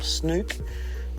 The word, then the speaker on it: snook: get the snook or depending if you're Kiwi snook or or Victorians the same pronunciation but there's the South Aussies we call him snoop and that good fun